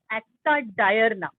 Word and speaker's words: acta diurna: You should pronounce it as diurna, diurna, nothing. It's acta diurna.